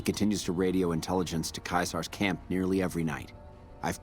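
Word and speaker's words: Caesar: with the fact that it's it's supposed to be pronounced kaiser according to him the name like ancient roman or whatever so he he puts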